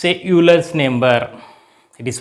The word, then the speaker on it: Euler: It is pronounced as Euler.